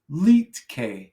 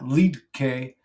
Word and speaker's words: Liedtke: The D is silent. Oh, Leetke. His name is Leetke. Leetke. like that. Not Liedtke.